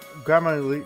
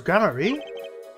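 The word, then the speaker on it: Gramarye: The Man Behind the illusion valent gamier grar gramar I already forgot how to pronounce his name sorry was he crossdressing it was gramarie that's quite the illusion but I still don't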